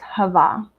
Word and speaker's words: Hava: For that particular genre, that is my pen name, and it's pronounced Hava.